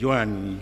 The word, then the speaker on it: Joan: Per posar un exemple, les solucions recomanades en la pronunciació de Joan i Josep són pronunciar-les com a U en lloc de O.